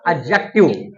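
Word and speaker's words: adjective: पढ़ाते हैं आपको लिखो एडजेक्टिव एडजेक्टिव नहीं होता वो होता एडजेक्टिव एडजेक्टिव कैसे जब डी के बाद जे आ जाए या जी आ जाए तो फिर डी हमारा साइलेंट होता है लिखिए नहीं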